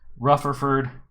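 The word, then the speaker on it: Rutherford: the ship and there let's see boimler and rufferford are sorry did i say it right that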